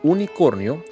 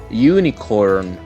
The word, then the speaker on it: unicorn: Se pronunciaría unicorn. Unicorn. Esa vocal U de unicornio en inglés tiene un sonido como U. Ese sonido se toma como un sonido consonante.